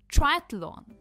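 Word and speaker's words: triathlon: Next है ट्राय एथलॉन। ट्रायथलॉन। ट्रायथलॉन। कोशिश कीजिए ट्रायथलॉन।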